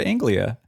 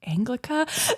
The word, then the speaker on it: Anglia: this and you even remembered how to pronounce Ford Anglia I have to be honest as I was saying it I was like wait is it anglica like I still have